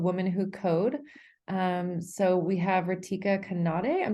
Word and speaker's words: Ritika Kanade: So we have Ritika Kanade. I'm not sure if I'm pronouncing that right, but thank you so much for tuning in. Yeah, you're pronouncing it correct. It's Ritika Kanade.